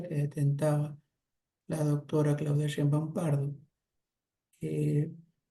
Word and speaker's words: Sheinbaum: del oficialismo, la señora Baum, no sé si está bien pronunciado el apellido. No, no está bien pronunciado. ¿Cómo se pronuncia? Sheinbaum.